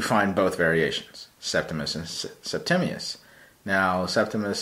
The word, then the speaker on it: Septimius: podcast I'm listening to, pronounced it as Septimus Severus, which sounded cool. I like the name because it kind of sounds like Optimus Prime, right? But then every time after that, he says Septimius.